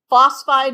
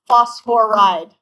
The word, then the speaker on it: phosphide: P3 minus phosphide not phosphoride just phosphide is good.